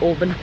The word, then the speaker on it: Oban: open open I think the locals call it Auburn Auburn Auburn yeah I was like open pronouncing the A's um but we're walking